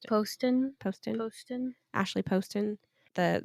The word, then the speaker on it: Poston: make all of Ashley poson post how do you say do you say it Poston or poson Poston Poston Poston Ashley Poston